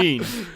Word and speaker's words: Jeanne: yes, Jeanne. One syllable, Female. not two.